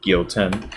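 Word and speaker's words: Gyoten: That is how you pronounce that, Gyouten.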